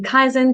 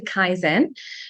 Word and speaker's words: Kaizen: what is the word Kaizen so it's a combination between two syllables as usual Kaizen which means to get a theory of positive Improvement just like the word zen you know Zen we got used to